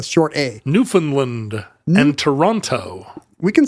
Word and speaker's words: Toronto: GTA Canadian GTA greater Toronto area Greater toron Toronto remember Toronto never pronounce that second I'm not Canadian I